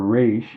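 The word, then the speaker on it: ריש: So the root is the resh, aleph, shin in the middle, rosh, or resh in this case is how it's pronounced.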